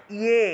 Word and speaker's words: যে: দেখুন 3 নম্বর শ্লোকটা, যে আছে, যে তোয়া, যে থাকলে উচ্চারণটা হয় ইয়ে, ইয়ে, ঠিক আছে, ইয়ে উচ্চারণটা হবে, কারণ অন্তস্থ জয়ের সংস্কৃত উচ্চারণ হলো ইয়, অন্তস্থ জয়ের সংস্কৃত উচ্চারণ হলো ইয়, এগুলো আমরা কিন্তু পড়েছি আগের ক্লাসগুলোতে।